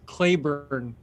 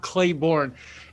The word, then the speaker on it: Clayburn: for about 10 years my name is pronounced claiborne claiborne it's not it's not clay born and i i wanted